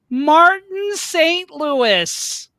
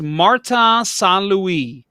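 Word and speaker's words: Martin St. Louis: and the winner is martin st louis and it was just oh can you not right before they go on stage say it's marta san luis like and again spill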